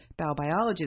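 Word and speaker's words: Baubiologie: to do Feng Shui, you should learn about Bau-biology.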